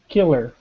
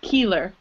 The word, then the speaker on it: killer: Killer. Good, not keeler, right? So it's the short I, that I sound, killer.